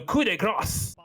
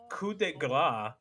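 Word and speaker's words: coup de grâce: And I've learned that coup de grace is actually apparently like gras, like foie gras.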